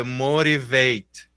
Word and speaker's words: motivate: sim então aqui ó eu escrevo motivate e hora que eu falo é motivate motivate né como se tivesse um rzinho ali né a mesma coisa do